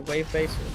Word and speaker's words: Wavebacer: Wave Baser, yeah. That's not an R, that's yeah, Baser, Wave Baser.